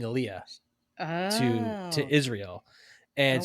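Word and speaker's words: עלייה: what she meant and they realized that they were pronouncing it wrong and it was like Ola or something like that and what it actually meant was it meant that she was um making Aaliyah oh to to Israel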